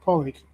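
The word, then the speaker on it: Pádraig: I believe it's pronounced porridge.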